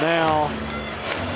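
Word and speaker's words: Nau: And now batting for Arthur will remain in the game at catcher. Spelled N-A-U, pronounced now, as in right now.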